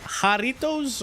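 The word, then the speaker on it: Jarritos: is this is this Mexican or is it Haritos or what? What? Yaritoss. How do you pronounce it? Haritos or Yaritoss? Is it with a h? Oh, it's pronounced Harito. Okay, there we go. I see it. Haritos.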